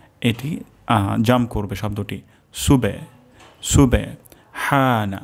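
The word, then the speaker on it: سبحان: jump করবে শব্দটি সুবে সুবে হানা হা গলার মাঝখান থেকে উচ্চারণ হবে সুবহানা সুবহানা রব্বিয়াল রব্বিয়াল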